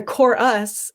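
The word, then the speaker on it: CoreUs: students um and then the core us is the chorus but it's spelled c-o-r-e and then second word us because at your core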